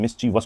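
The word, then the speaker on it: mischievous: था मिसचीवियस करा था मिस चीफ उसको मिसवियस बोलते है लेकिन मिसिचीवस होता है वो ठीक है मिसचीवस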